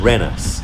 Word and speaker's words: Wrynose: into his current form rhinos still pronounced locally as renus according to wikipedia and